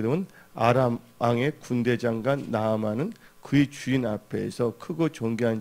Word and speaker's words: 나아만: 근데 이 나만 장군이 나오는데 이 나만이란 뜻은 즐거움이라는 걸 갖고 있어요. 그래서 원래는 나만, 여기서 두 자지만 나아만, 그리고 발음하는 게 더 정확하다고 볼 수가 있어요.